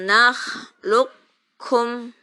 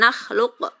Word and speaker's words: nakhluqkum: Alam nakhluqkum. Jadi qafnya jangan mantul. Jangan nakhluq. Qaf itu kan qalqalah. Jangan mantul. Karena bertemu dengan kaf. Alam nakhluqkum.